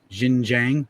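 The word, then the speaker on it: Xinjiang: week talking about uh i think it's pronounced jin jiang or something like that that's where that those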